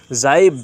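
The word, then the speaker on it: jibe: मारना जाइब जे आई बी जाइब है साथियों जाइब जे आई बीई जाइब जाइब बोल तो हसी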